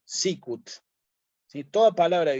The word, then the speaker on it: sicut: es bueno recordar que en latín toda palabra que es bisílaba lleva el acento en la penúltima sílaba Entonces en este caso el acento va a ir aquí sí sicut si toda palabra de